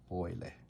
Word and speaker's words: Euler: Euler. É alemão, é U, pronuncia Oi, que nem Freud.